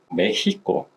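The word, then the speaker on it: México: 그 뒤에 사람들이 부르면서 메히코 그래서 실제로 스페인어로 멕시코를 할 때는 멕시코라는 말보다는 메히코라는 말을 많이 씁니다.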